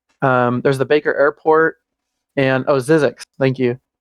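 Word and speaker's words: Zzyzx: There's the Baker Airport and Zizix. Thank you, Zizix Road.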